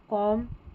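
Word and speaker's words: comb: 39 पर हमारा spelling pattern है MB, इसमें इसको म पढ़ेंगे, B साइलेंट रहता है, ठीक है, थम, कॉम, बॉम्ब, अब B यहाँ पर लास्ट में है ना, ये साइलेंट, इसको पढ़ना नहीं है।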